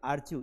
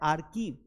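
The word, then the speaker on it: archive: ये आर्च्यू नहीं है बेटा। ये क्या नहीं है? आर्च्यू नहीं। यहां पे आर साइलेंट है। ये आर्कि्यूव है। ये क्या है? आर्क्यू है। करेक्ट वाला कौन सा है? आर्किव नॉट आर्च्यू।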